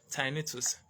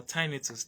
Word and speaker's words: tinnitus: very often uh scientifically it's called tinnitus or tinnitus depending on how you were taught or the how you pronounce the tiny two so